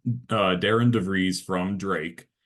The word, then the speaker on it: Darian: Yeah, so it's Darren DeVries from Drake. His first name is spelled like Darian, but pronounced Darren, which is super weird.